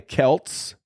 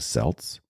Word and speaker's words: Celts: like that in Celtic runes so but it's pronounced sin and it was a pagan Festival that was celebrated by the Kelts or the Celts if you're from Boston uh Celtics uh the